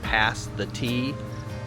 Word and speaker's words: pasty: malun pasties and uh I always say that wrong but I learned if you say past the tea pastes that's how you say it so PES we're